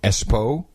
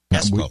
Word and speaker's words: Espoo: I guess we've always been pronouncing it wrong. Espoo. Espoo.